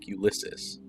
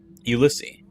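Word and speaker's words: Ulysse: Ulysus. Garrett says the name English style, pronouncing the final S. I correct him. Ulissi.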